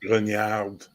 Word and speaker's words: grognard: If you're and not, it's pronounced Grognard. But that's neither here nor there. Grognard. Grognard, Grognard, Grognard. Grognard. Yeah, there you go. Now you got it. Grognard. I'll get you a better French accent for your Call of Cthulhu games eventually.